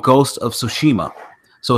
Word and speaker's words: Tsushima: with the T, and you don't pronounce the T at all.